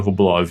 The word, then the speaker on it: Rublev: É o mesmo caso do Rublev e Rublov, é aquele com trema que se escreve com E, mas se lê como O.